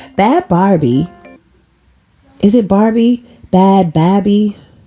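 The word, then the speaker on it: Bhad Bhabie: Barbie is it Barbie bad baby it's b-h-a-d-b-h-a-b-i-e but whatever I think you pronounce her name bad Barbie uh so she said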